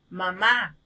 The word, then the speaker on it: mamá: por ejemplo este decimos mamá al pronunciar esta palabra entonces oímos que la fuerza de voz está en la última sílaba porque entonces las palabras